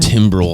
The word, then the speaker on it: Timbrel: Timbrel.